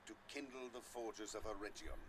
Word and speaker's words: Eregion: And I'm going to try to pretend that Gandalf didn't just say Eregion, because of course it's pronounced Eregion. With a hard G, as is, for instance,